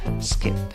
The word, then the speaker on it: skip: En la escritura va una I, en la pronunciación también va una I, bien fácil, pero una I cortita, una I que se duerme, no es la I larga.